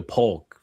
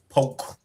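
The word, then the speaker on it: Polk: You got to say it right. Poke. Yeah. Now that K silent it's P it's P.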